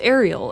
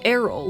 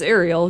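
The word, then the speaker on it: Eriol: unsurprisingly that reincarnation also his name is apparently pronounced ariel and not aryl like i thought literally my entire life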